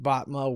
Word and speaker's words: Botma: people through finances and company culture activism botma welcome to the show sir yeah jim thanks